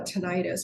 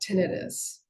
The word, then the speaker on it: tinnitus: I just found out that it's pronounced, I always call it tinnitus, but I guess it's supposed to be called tinnitus.